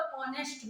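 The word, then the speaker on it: honest: पर S sound को क्या कर देते हैं, साइलेंट कर देते हैं, ठीक है। अब जैसे हमारा मतलब ऑनेस्ट मैन, तो उसकी स्टार्टिंग किससे होती है, एस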